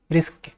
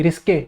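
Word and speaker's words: risqué: Word और statement, one meaning of which may be interpreted as रिस्क, sorry रिस्के, रिस्क नहीं बोलेंगे इसको।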